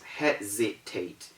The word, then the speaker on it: hesitate: positive get that right we also have hesitate h-e-s-i-t-a it's not hesitate it's not hesitate the way is hesitate and you know why it is hesitate because it obeys the rule it satisfies the conditions it is that s is between e and i so we have hesitate